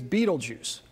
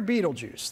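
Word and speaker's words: Betelgeuse: it marks the shoulder star of the great Sky giant Orion the Hunter and its name is Beetlejuice which most people pronounce Beetle Juice and if you've ever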